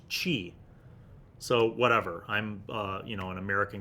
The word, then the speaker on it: chi: Because when I was a little kid, I called it kai. And then other people started to call it ki. And then later on, like studying actual martial arts, I had actual martial artists tell me that it's pronounced chi.